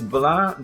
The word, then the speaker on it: blanc: Blanc, blank, or blanc, blank. If it's French for white, it's blanc. The C is silent, I'm not sure.